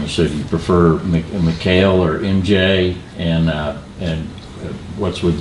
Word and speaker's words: Mehkail: It's actually pronounced Mehkail.